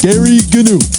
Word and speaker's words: Gary Gnu: is good news with Gary Gnu." Gary, don't pronounce the G's.